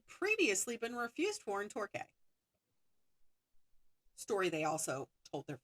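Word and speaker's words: Torquay: a holiday camp at a seaside town called Torqu. If I mispronounced that, I apologize, but it's t o r q u a y.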